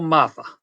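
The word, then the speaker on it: Mafah: Running backs, you guys got Mafar. Is that how you pronounce his name? Will Shipley and Phil Maffa. Maffa, okay.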